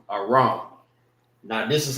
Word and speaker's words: Aram: And this is how you say it in the Hebrew, Aram.